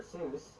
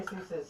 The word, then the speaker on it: Seuss: Seuss, which originally is supposed to be pronounced Dr. Seuss, but I'm not going to say that because there's probably only like 5 people on the planet who pronounce it that way, and Geisel himself eventually switched to the anglicized version.